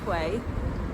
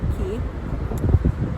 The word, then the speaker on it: Quay: which I was very clearly told is not pronounced Quay but uh key um besid see you around there then go